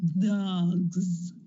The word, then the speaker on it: dogs: you have dog dog the G has vibration so when you put the s for the plural it becomes Z so you say dogs I'm exaggerating of course